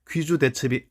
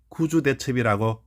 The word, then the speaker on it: 귀주대첩: 그러나이 단어도 논쟁거리가 됩니다 귀주 대첩이 아니라 구주 대첩이 해야 한다는 것이지요 저도 구주 대첩이 옳다고 주장합니다 지금 한자가 나와 있는데이